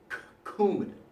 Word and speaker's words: Coumadin: Notice that's a hard sounding C. Coumadin, right? So, what I want you to do is think about Coumadin and that K sound that it has, that hard C.